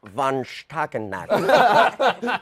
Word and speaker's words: von Stuelpnagel: this play, and the magnificent star, Stephen Boyer, It's pronounced von Stuelpnagel.